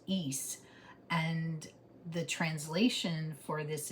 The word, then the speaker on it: Isa: Um so it's pronounced east.